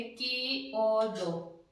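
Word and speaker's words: chiodo: ई ओ दी ओ, तो मैंने बोला था ची आ का ई का की बन जाएगा, तो हम इसको उच्चारण करेंगे की ओ दो।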